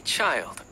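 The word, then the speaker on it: Childe: you who's this guy call me child child oh that's how you pronounce it child okay child what so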